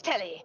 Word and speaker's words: Telly: The name's Telly rhymes with Nelly.